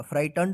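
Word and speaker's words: frightened: एन ई डी फ्राइटें जी एच जो है ना साइलेंट रहेगा फाइटन पढ़ेंगे इसको आउट ऑफ हिज ट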